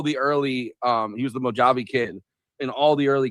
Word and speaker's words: Mojave: Because that's how you pronounce it. But he's the Mojave Kid. He runs back. Mojave, you know, the Mojave Desert.